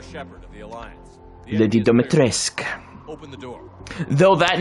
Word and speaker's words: Dimitrescu: Also, I pronounced her name wrong. It's Lady Dimitrescu.